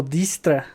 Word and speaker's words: Dijkstra: Espero pronunciar su nombre bien porque siempre creo que la riego. Es Dijkstra. O Distra.